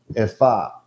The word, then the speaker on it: ephah: It's a measure of dry things containing the 10th part of an ephah. Or ephah, as I think most people say it. Ephah is how you actually pronounce it.